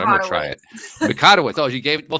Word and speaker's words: Mikotowicz: I should have asked for the pronunciation before I got going here, but I'm going to try it. Mikotowicz.